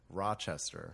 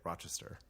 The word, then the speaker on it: Rochester: So Buffalonians say Rochester. Right. And people in there say Rochester.